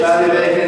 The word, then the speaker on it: Ballybacon: Ardfillan is right, but Ballybacon would be important pronunciation. Ballybacon, yes, sorry.